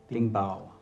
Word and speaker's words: 顶包: 顶包， Oh, 顶顶pan, 顶包， Ding bao.